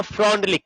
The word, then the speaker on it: Freundlich: तो देखिएगा फ्रॉन्डलिक क्या बोला था। यहां पर FREUNDLICH, इसका स्पेलिंग थोड़ा उल्टा सीधा है ना, विदेशी सब है।